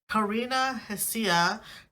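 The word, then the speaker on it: Karina Hsia: The H is silent. Karina, not Karen. Karina Hasia.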